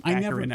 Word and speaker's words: Baccarin: How do we pronounce her last name? Baccarin, I believe.